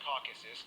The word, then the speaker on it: Caucasus: By the way, it's pronounced Caucasus, not caucus.